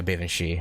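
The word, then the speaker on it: Baobhan Sith: Bavan Shi or something? Yeah, I wasn't going to, yeah, no. All I got were craft essences. Yeah, Bavan Shi, okay.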